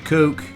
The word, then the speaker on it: Koch: Jason Koch. And that's how you say the Koch brothers, right? Coach. It's not Coach, it's Koch.